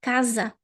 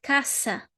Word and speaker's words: casa: just like the word kaza. We write ca as a but we say kaza not casa kasa not kasa kaza. Right? When we have an s between vowels it will always be pronounced z.